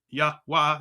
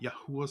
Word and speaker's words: Yahweh: And he gave him the name YHWH, pronounced Yahweh, Yahuwah, some people say, some, whatever.